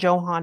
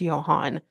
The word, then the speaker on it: Johan: refuse cuz it's not Johan it's Johan yeah because you do not pronounce the J like a j you pronounce it like a y I know it drove